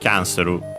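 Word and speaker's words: キャンセル: But yeah, in this case, the accent could stay only on the kya, not on the n on its own. Yeah, so it's accented there. Canceru.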